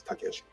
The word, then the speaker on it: Takeshi: It's Takeshi. If you look at his own documentations, he puts here in hiragana in parentheses, Takeshi, so that everybody makes sure that they have the correct wording or pronunciation for his kanji for his name.